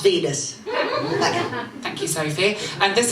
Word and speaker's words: Wiene: Caligari, what was directed by a man called Robert Wieners. It's pronounced Venus.